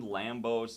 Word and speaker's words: Lambeau: I'm just like dyslexic, dude, so like, Lambeau. Lambos. Exactly the way you read it.